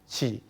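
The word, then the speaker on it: qi: in a mandarin form Chi so um there a canones pronunciation and also the Mandarin part of it but for me I prefer the mandrin part of it and as what the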